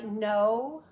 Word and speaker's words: know: then drops no vibration C sometimes it's silent I know the kitchen is dark please knock kitchen dark silent silent I read it